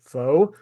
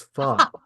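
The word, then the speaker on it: phở: can't stand F I also learned that a lot of Americans pronounce it fo which is the Vietnamese word for a itute don't order foe it's fun so yeah you're ordering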